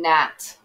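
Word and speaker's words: gnat: hear the g and nat can't hear the g again so be careful with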